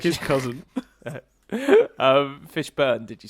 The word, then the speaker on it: Fishburne: That's actually the correct pronunciation. It's like his cousin. Fishburne, did you say? Yeah, not Fishborn.